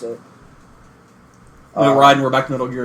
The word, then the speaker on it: Raiden: If you want to call it Raiden or you want to call it Raiden, Mortal Kombat actually pronounces it Raiden. Ed Boon has said that's the official spelling for that, but the technical Japanese name is Raiden.